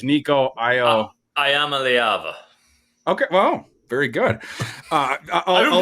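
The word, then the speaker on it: Iamaleava: How do you pronounce the last name, Froton? I'm afraid to say it. It's Nico Ayamaleava.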